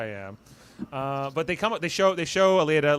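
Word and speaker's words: Aleida: And it's Aleda, which Margot pronounces Alida. I was like, "You don't even know how to pronounce her name?"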